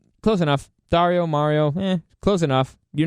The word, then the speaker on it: Dario: I gave up and I started saying, just Mario with a D. Dario. That's not how you say it. In Spanish, it's Dario.